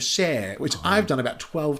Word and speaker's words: Cher: Sher describes their outfits and then details how Ed butchered her name, calling her Shir instead of Sher, which I've done about 12 times in this podcast.